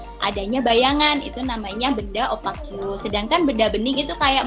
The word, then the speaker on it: opaque: Opaque, bacanya opaque.